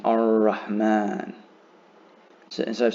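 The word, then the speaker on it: الرحمن: So if a lam is followed by a letter with a shadda above it, that's the easiest way to understand that you do not pronounce the lam either. You just pronounce the following letter, but hold it for 2 counts.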